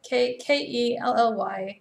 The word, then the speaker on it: Kelly-Jo: No, it's Kelly. Kelly-Jo. Sai almost got it. So it's with a Y. And there's no E on the end of Joe.